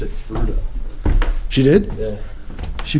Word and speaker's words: Fruita: I always, I mean, if you go by the phonetic spelling of it, and the Spanish pronunciation would definitely be Fruita.